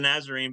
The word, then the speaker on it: Nazarene: is that is that I'm saying it right Church of the Nazarene it's Church of the nazarine but technically it's a